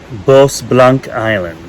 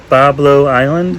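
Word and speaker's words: Bois Blanc Island: one you can't okay let me read this boss blanc island it is probably the most nonsensical one that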